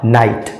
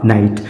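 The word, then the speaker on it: knight: के एन आईजी एसटी के एन आई जी एसटी इसमें भी के के बाद एन आया है और के के बाद एन आने पर के साइलेंट होता है और इसका सही उच्चारण हो जाएगा नाइट इसका सही उच्चारण हो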